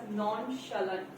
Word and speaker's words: nonchalant: every word matters and someone said nonchalant it should be pronounced as nonchalant so it means someone